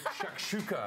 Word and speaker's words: shakshuka: You know, it's early in the year and you're throwing us big words like shakshuka.